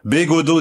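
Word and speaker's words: Bégaudeau: B, le B est devant. Go, le G est au fond. Do, devant, hein, il y a un peu un va-et-vient quand on prononce son nom. Bégodeau, disais-je, un patronyme familier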